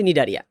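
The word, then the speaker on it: Cnidaria: উচ্চ থাকে গোপন থাকে উচ্চারণ হয় না সি উচ্চারণ হচ্ছে নিডারিয়া এই নিডারিয়া শব্দটা এসেছে তোমার ল্যাটিন মানে গ্রিক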